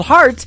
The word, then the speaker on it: Hart: good friend Robbie Hart it is HR t on her last name and that is called heart in two places yeah I